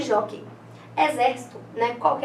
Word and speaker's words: jockey: Nós temos que e jó, então são só duas sílabas. A sílaba tônica é a penúltima, então é uma paroxítona, né? Terminada em ditongo aberto, que é o ei, né?